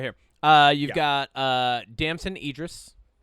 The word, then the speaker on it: Damson Idris: Uh you've got uh Damson Idris. Damson Idris.